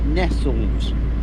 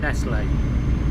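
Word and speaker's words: Nestlé: with a French accent over the E, Yeah, it was which is rebranding.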